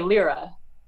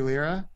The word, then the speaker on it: Lyra: a few different ways well i think we would say lira you say lyra yeah lira and there is in fact a baroque ensemble in an intensity it's called lira baroque as it happens and they say lyra okay i've also i should say i've also heard lyra then too yeah that's yeah that also seems fair no one's going to